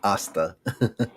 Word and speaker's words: hasta: so he's gonna It's pronounce actually it. Spanish. Pasta. Asta.